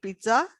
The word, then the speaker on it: pizza: See, it's an Italian word. Italian words में जहाँ double Z आता है ना, वहाँ पे त और स की प्रोनाउंसिएशन हो जाती है. पहला Z त, दूसरा स.